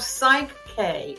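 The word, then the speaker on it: Psych-K: It's called Psych K. It starts out like psychology.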